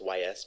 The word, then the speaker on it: Ys: The Ys series, it's spelled just YS, but it's pronounced Ys.